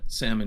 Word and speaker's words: salmon: I I'm pretty sure that salmon is or is it Sal? I think it's Salmon. Sal s, but it's still s the L is silent.